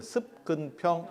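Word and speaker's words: 習近平: 시진핑의 C가 습이거든. 습근평 이렇게 가는 거거든요. 우리 발음으로는.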